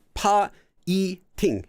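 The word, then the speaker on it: 파이팅: Check your spelling for piting, but I mean, I know that's what it was supposed to be, but pa-i-ting. So it would be 3 separate syllables for that.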